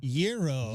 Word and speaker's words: gyro: Gyro Gyro is how I've heard a lot of people native. But again, I don't think there's any wrong way.